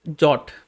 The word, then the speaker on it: JWT: header part okay and this is the jwt json web token or it is pronounced as jot okay first one is